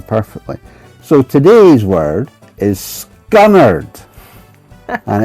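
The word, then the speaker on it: scunnered: R E D and you pronounce it scunnard.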